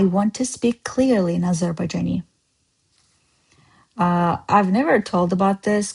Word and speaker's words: Azerbaijan: But the right way to say is Azerbaijan.